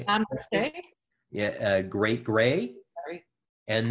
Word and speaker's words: Namaste: And Mastase, am I pronouncing it? Namaste.